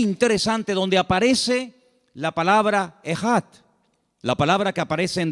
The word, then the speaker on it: Ejad: Y esa palabra, el Señor, nuestro Dios, es uno, es una palabra que se pronuncia Ejad. E-J-A-D.